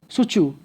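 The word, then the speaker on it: Tsu Chu: ये मैंने यहाँ पर एक नेम जो मेंशन किया है, इसको बोलते हैं सुचू। टी इसमें साइलेंट रहता है तो टिसुच नहीं पढ़ेंगे, इसको सुचू पढ़ेंगे, तो वो चाइना कंट्री है।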